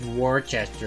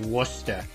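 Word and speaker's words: Worcester: It's like, "It's not pronounced Warchester. It's pronounced Wora."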